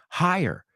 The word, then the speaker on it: higher: Higher. It sounds like fire.